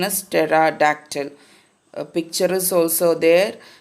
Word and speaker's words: pterodactyl: our today's lesson earth pterodactyl then the correct pronunciation is pterodactyl a picture is also there so this type of diagnosis are called pterodactyl it's Tara doctor another name of dinosaur which we come across